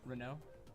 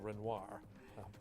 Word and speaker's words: Renoir: Renault. I'm sorry? Renault. Renault? No, Renoir. We're just saying it wrong.